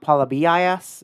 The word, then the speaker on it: Polybius: made for mind control polybius polybius no polybias it's it's pronounced many ways it was this video